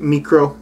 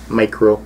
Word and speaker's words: MiKro: so ibanez micro um i'm gonna pronounce it micro since they have put a capital k stylized as the middle letter so indicating two different syllables rather than micro um and of course